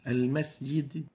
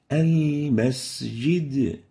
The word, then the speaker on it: المسجد: The sin common mistakes. The first one is weak whistling of the sin. Al-masjid. Al-masjid. Quickly, short, sin with no whistle. While the right way of pronouncing it is like this. المسجد Al-masjid. So we have to properly give the sin its whistle characteristic.